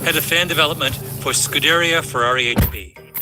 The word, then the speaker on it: Scuderia Ferrari: Today, we're diving into a fascinating conversation with Stefano Palumbo, head of fan development for Scuderia Ferrari HP. Your pronunciation is is strongly American. It's more Scuderia Ferrari.